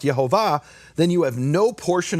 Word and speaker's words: IeHoVaH: And the rabbis say, if you do that, if you heal in the name, actually pronouncing the name, IHVH, the way it's pronounced, IeHoVaH, then you have no portion in the world to come.